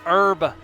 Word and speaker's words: herb: Hey, it H is silent in herb. Yes, it is. It is herb. It's herb.